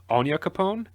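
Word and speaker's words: Onyankopon: Marley, because she and I'm gonna try and pronounce his name correctly, Anya Capone, That the was African really American good.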